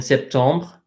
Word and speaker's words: septembre: This is a good time to point out EMs, as in septembre and novembre, are pronounced the same way as EN, which is just en. So this is not novembre, like this is novembre. So this M is silent in both septembre and novembre. They're silent.